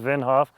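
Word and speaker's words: Wim Hof: Now, there is um the guy Winhoff, I think it's pronounced Vinhof.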